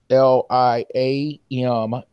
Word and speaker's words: Parliament: I can't pronounce that word. Talking about a tour and PRLIAMENT. PARLIAMENT.